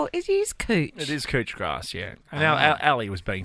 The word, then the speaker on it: couch grass: as Bermuda grass yeah cooch grass it's spelled couch but it's cooch grass you said cooch what's